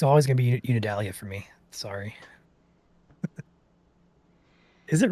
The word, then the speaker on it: Unadilla: So I am going to pop outside as soon as I confirm what Unidalia or Unadilla is pronounced. It is Unadilla.